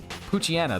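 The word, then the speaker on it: Poochyena: It's literally Pooch because it's a dog. And then it's like a hyena because it's a hyena. It's like Poochiana though, is what it is.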